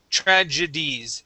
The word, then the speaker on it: tragedies: g mixed up here so we say tr j tragedies tragedies one more time